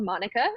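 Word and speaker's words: mānuka: your inner work is, I'm going to say it how I would say it, but I think it's pronounced something else, Manuka. But we learned at convention it's called Monica, but it's Manuka to me.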